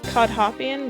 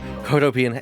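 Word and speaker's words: Cohdopian: I've always said it like Codhopian, but that's Codhop. definitely wrong. You're right. I looked at the Codopian. spelling now. You're right. Okay, so Codopian Embassy.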